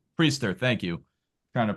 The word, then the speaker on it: Priester: It's Priester. Priester. Thank you. Trying to pronounce his name.